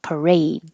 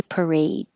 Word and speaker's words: parade: M pumpkin pumpkin pie parade you don't have to say the last D parade the Macy's Thanksgiving Day Parade extraordinary every single time